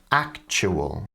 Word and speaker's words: actual: Australian English forunate opportunity so whenever you see a tu like that you can pronounce them as a CH sound so these different words sound like fortunate opportunity actual the London Tube YouTube now this is